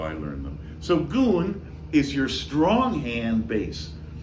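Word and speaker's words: gun: It's spelled G-U-N if you see it written, but it's pronounced goon.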